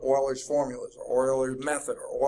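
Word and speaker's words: Euler: groundbreaking there are several formulas out there called Oilers formulas or Oilers method or Oiler this and Oiler that his name is spelled e u l r but it's pronounced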